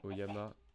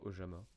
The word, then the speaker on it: Oyama: D'ailleurs, ça doit viter que je dis Oyama et pas Ojama parce que genre le J dans ma tête c'est un je sais pas pourquoi je le prononce c'est con mais je le prononce en latin le J en latin ça ça c'est ya genre c'est oui le le son comme Y.